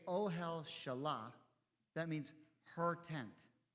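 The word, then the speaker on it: אהל: Ohel. Right? Like, oh, hell. Right? Oh, hell.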